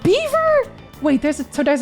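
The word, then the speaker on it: Belvoir: Belfor it's pronounced Beaver.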